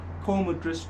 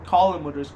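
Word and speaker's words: Colm O'Driscoll: the whole Cornwall things could have been avoided col madris all that or colum madris I should say that's his right name name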